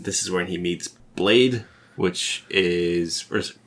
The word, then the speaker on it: Blaidd: And then this is when he meets Blade, which is...